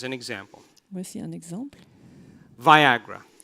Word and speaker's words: Viagra: Viagra. Le Viagra. It rhymes with Niagara.